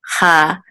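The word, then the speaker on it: חייו: Actually, this yud is silent. So yud with the kamatz, this yud is silent, and then this vav will be part of this. So chayav, okay, chayav.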